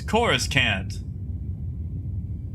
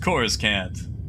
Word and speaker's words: Coruscant: It's Coruscant. That's how it's pronounced. Coruscant.